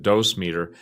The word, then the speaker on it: dosimeter: who work around nuclear materials usually have a dosimeter. Some people pronounce it dose meter, which is basically a miniature recording Geiger counter